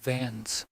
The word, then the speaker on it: Vance: Beatrice Carver, pronounced Carver, was still dodging questions about the vault key, while Clarence Vernon, pronounced Vernon, the dark-coated stalker, and Cyrus Vance, pronounced Vans, the shady lawyer, had turned our closed case into a live wire.